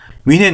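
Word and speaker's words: München: 위가 아니라 으 여러분이 잘 아는 민헨 민헨 하는 걸 위겁니다. 위 문신에 민은 아니에요.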